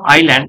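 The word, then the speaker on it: island: Right in the middle of the river there was a small আইল্যান্ড। এটাকে কিন্তু আই এস এর উচ্চারণ যে আছে, এস এর উচ্চারণটা উচ্চ থাকবে, আইল্যান্ড বলবো।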